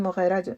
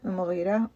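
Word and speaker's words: المغيرة: वालिद थे वलीद बिन मुगरा मुगरा या मुगरा दोनों तरह से प्रोनाउंस किया जाता है तो वो चूंकि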